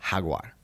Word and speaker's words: jaguar: uh so all right in Spanish a Jaguar is pronounced Hagar okay what did the